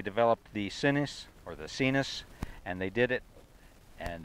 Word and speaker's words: Sinus: artistically written here but it's like sinus but that's not how we say it so it's seen us is the way it's pronounced and this is a